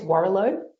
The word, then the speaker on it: Warrilow: Name's, and I don't know how you pronounce his surname, but I think it's Warrilow. Oh, yes, it is Warrilow.